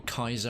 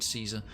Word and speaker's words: Caesar: He wants to meet you, Caesar, or they keep calling him Kaiser and it's pronounced fucking Caesar.